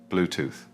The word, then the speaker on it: Bluetooth: And finally, Bluetooth. Make sure you pronounce the 3 at the end clearly with your tongue between your teeth. Bluetooth.